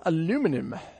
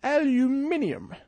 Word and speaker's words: aluminum: All right, moving on to aluminum. Aluminum. Or as the Brits say, aluminium. I'm not sure how they got that, but actually they spell it differently. Anyway, here in the States, we call it aluminum.